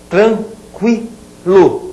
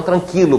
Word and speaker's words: tranquilo: trema cqu que que cqu tranquilo e não tranquilo como a gente escuta tem algun regões do Brasil tranquilo essa é a pronúncia padrão a palavra aparece com